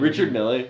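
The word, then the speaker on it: Richard Mille: those Richard me what is how do you pronounce his name? Richard Millie.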